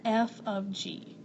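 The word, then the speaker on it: f ∘ g: and the g so that is actually not the word fog it usually looks like this it's like a tiny little g and you pronounce that f of g and that is called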